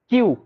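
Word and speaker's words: queue: কিউ ইউ ইউ কিউ লাস্টের চারটাকে বাদ দিলে একই এই কিউ শব্দটাই উচ্চারণ হবে।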